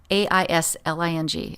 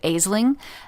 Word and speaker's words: Aisling: And so I've seen other people that, in my head, I pronounced it Aisling. And I loved this. I loved this name. I later found out it was called Aisling because, the Irish, they pronounce everything so crazy.